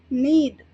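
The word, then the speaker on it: knead: English में कहेंगे NEET जहां पर के साइलेंट होता है और एन ई एडी का प्रोनंसिएशन किया जाता है तो इसे हम कहेंगे नीड सेकना जैसे रोटी वगैरह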